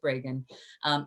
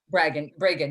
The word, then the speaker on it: Bragan: Am I pronouncing her last name correctly? It is Bragan. Is it? Bragan, yes.